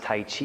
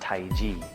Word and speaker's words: Tai Chi: it's not pronounced Tai Chi, it's pronounced Tai Ji.